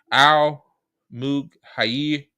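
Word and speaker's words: Al-Mughayyir: Al Mughayyir, okay, that's how you say it, is surrounded by olive groves and on lands privately owned by town families.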